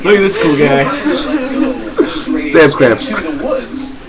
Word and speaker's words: Samsquamptch: I'm mispronouncing it. It's Samsquamptch.